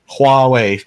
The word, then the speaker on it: Huawei: something I don't know hwei huwei no the H is not silent no you actually put a little bit of a pronunciation on that so Huawei pronounce you like a w and you're set yeah I I'm I